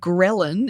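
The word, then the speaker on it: ghrelin: to one of our hunger hormones um called gin it's it's spelled ghr e l i n and iron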